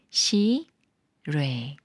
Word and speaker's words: 실외: 받침이 초성 이응을 만나면 초성 이응이 소리가 없기 때문에 리을이 이응 자리로 올라가서 시라고 읽어요이 경우는 앞글자 시에 받침이 없어서 리이 에 가까운 르 소리예요 시레 예문 읽어 볼게요 날이